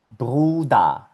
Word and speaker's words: Bruder: Por ejemplo, esto se lee Bruder, Bruder. Esto aquí se pronuncia Muta, Muta.